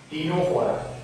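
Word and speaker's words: Ctenophora: कंकतधरा शब्द छे जेने इंग्लिशमां टीनोफोरा तरीके ओळखवामां आवे छे। टीनोफोरा ज्यां सी साइलेंट छे, सी टी ई एन ओ पी एच ओ आर ए, टीनोफोरा।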